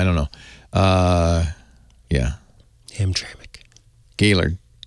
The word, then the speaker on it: Hamtramck: yeah ignore that E Yeah ignore the E is silent or something Hamtramck I did know that one uh that sounds